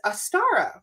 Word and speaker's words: Astara: So the new name that we have chosen for Divinate is Astara. We're going to call it the Astara Collective. We're going to call it the A-S-T. So basically A-Star-A.